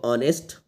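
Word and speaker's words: honest: कर देता हूं इसमें एच साइलेंट है एच को छोड़ के पढ़ना है आपको पढ़ना है इसको ऑनेस्ट ऑनेस्ट रीड कीजिएगा इसको ऑनेस्ट जो कि आपको एक वाउल साउंड दे रहा है तो ये ऑनेस्ट है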